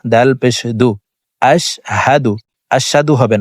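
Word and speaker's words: أشهد: আমরা এখানে কমন একটি ভুল করে থাকি এখানে আশশাদু পড়ে থাকি এখানে আশশাদু হবে না হামজাশিন জবর আশ হা জবর হাফের উচ্চারণ হলকের শুরু থেকে পড়িতে হয় আশ হামজাশিন জবর আশ হা জবর হা দাল আলপেশদু আশহাদু আশহাদু হবে না আশহাদু আশহাদু আল্লা ইলাহা আশহাদু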